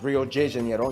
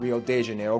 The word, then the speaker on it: Rio de Janeiro: that's right it's pronounced Rio de Janeiro not Rio de Janeiro get it right we're not in Mexico this is Portuguese not Spanish this was done in